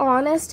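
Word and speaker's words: honest: नेक्स्ट ऑनेस्ट है, फिर उसके बाद में ऑनर, ये 3 भी अल्फाज में हम हैच प्रोनाउंस नहीं करते।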